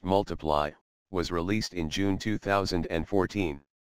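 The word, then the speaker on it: ×: with Elton John his second studio album X pronounced multiply was released in June 2014 it peaked at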